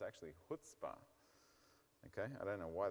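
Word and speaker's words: Chutzpah: I was calling it chutzpa but it's actually hootspa okay I don't know why the C is not they should have just deleted the C and then we'd all pronounce it right okay anyway selenium and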